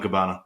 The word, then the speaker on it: Cabana: So I love hearing Briscoe and Cabana. I love it. It's Cabana, man. We got another one. Another weird big boy pronunciation.